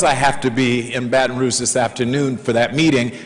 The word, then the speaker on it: Baton Rouge: In fact, I'm supposed to be down in Baton Rouge right now, and I said it right, Baton Rouge, they told me to say it that way.